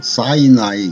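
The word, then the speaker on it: Sinai: 2013년 3월 27일 디트로이트 소재 시나이 그레이스 종합병원, 미국식 발음으로는 사이나이 그레이스 하스피럴이라고 합니다.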